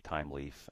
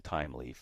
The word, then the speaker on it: Thymeleaf: And actually, if you want to learn more about it, it's just type in TimeLeaf. Make sure you spell it like thyme, the spice.